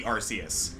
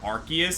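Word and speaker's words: Arceus: So, one apparently like it used to be Arus, but they had to like make an official pronunciation change to Archus specifically because um in certain languages, Ars is not exactly a kosher word.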